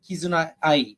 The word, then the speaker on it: Kizuna Ai: 2016, by someone named Kizuna Ai, or Kizuna AI, depending on how you pronounce her name.